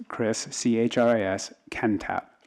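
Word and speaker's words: Kentopp: you please state your name again I keep mispronouncing it it's Chris CHR is Ken tap ke n t o P P my apologies mr.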